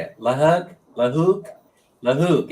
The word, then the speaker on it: Lahug: rented in Cebu, in Lagum. Lagum? How do you say it? Lahug? Lahook? Lahook. It's spelled lahug, like give me a great big hug. Lahug. Lahook, I guess you pronounce it, something like that.